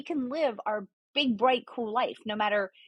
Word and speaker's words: Kuel Life: you started your company is it pronounced cool life it is it's pronounced cool life because my contention is